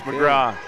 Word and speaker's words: McGrath: lead now yeah it's it reads McGrath but in Newfoundland pronounce McGraw Jeremy corrected me on